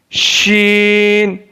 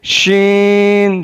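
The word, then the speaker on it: شین: Sheen. Alif sheen zabar ash. Alif sheen zabar ash. Sheen, sheen. शीन ज़बान के दरमियान और तालु के दरमियान से अदा होता है।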